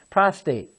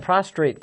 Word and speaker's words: prostate: pronounce it so you you pronounce it like you don't you know prostate most people tell me he had that prostrate cancer well no prostrate means you lay down the ground and you spread out okay prostate is a